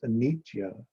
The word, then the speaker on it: anitya: Buddhism, what we call anicca, Pali, Sanskrit anitya, pronounced anitya, word origin, noun, Buddhism, one, the cycle of birth, growth, decay, and death through which every living thing must pass.